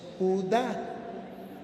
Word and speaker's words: Judá: Y me dijo, "No, mi hijo, ahí dice Judas." No, tío, mire, tiene un acento en la A y le falta la S. No es Judas, es Judá.